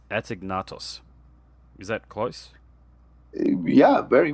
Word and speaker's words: Ategnatos: It's Ategnatos. Is that close? Yeah, very much, actually. The only thing is that in Gaulish language, the G is pronounced as a so it's actually Ategnatos.